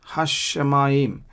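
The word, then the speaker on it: הַשָּׁמַיִם: Again, hashamayim. So sha is doubled.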